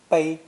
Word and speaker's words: 背: It's pronounced either fourth tone, 背, 背, or first tone, 背, 背.